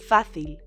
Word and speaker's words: fácil: The opposite of difficult is easy, fácil. Let's look at the syllables. Fácil, with an accent on the A.